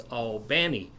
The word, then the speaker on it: Albany: Benny he said no it's all Benny is the way they pronounce it in Georgia okay so he's getting